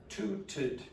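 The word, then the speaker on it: tooted: If it finishes in a T, then this is going to be tuted.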